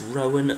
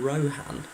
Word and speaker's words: Rohan: It's pronounced Rowan, not Rohan.